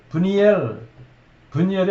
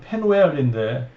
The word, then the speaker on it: 브니엘: 그때 비로소 야곱이 자기가 씨름하던 그분이 하나님이 사람의 모습으로 나타나셨었다는 것을 알게 되고 그곳 이름을 브니엘의 원래 발음은 페누엘인데 하나님 얼굴이라는 뜻이에요.